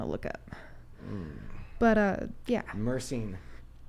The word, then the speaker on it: myrcene: Myrcene used enough will literally reduce. How do you spell that?